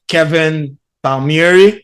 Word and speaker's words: Kevin Palmieri: personal development I have the pleasure to have Kevin Palmieri I forgot to ask before I press the